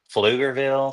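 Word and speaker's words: Pflugerville: some towns because man some of them are just fuger Ville starts with a P I mean I love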